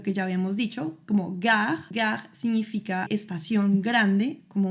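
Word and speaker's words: gare: Por ejemplo, al final de las frases con lo que ya habíamos dicho como gag. Gag significa estación grande, como una estación de trenes y no se pronuncia esa e al final.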